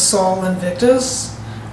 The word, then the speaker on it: Sol Invictus: And some of the emphasis was on the god known as Sol Invictus, or Invincible Sun. It's spelled S-O-L, Invictus.